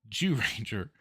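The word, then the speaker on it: Zyuranger: It's ZYU Ranger, but the way it's pronounced in the intro sounds like Jew Ranger.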